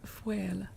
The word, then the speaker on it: faol: That word foel is the Irish pronunciation, does mean wolf.